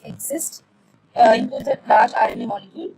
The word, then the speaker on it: XIST: So the process is XIST pronounced exist, includes a large RNA molecule, codes XI from the XIC near the centromere outward along the X chromosome.